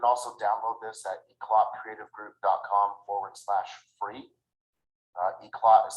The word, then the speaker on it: Eclat: Eclot is spelled ECLAT.